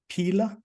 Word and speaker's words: Pela: kids and later co-founded paila is that how you pronounce it Pila yeah you can call Pila for sure and 100 million